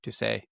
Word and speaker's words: Doucet: You got Doucet and AKL, and William, that's how you actually pronounce his name, Doucet.